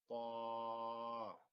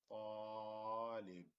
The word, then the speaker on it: طالب: So the way we read it here is طالب طالب طالب. So we kind of stretch the alif طا because the alif is a long vowel, so we stretch it a little bit.